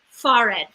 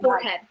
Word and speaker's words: forehead: for it yeah h she's also not pronouncing an h she's saying far end far red and it's forehead ew sorry but can